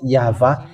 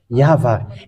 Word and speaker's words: YAHVAH: And it's the book of Torah, which says that we call it YAHVAH, and that's how we read it in heaven of heavens. YAHVAH. And those who call that YAHVAH, they're washed away from their sin, and they cannot sin anymore.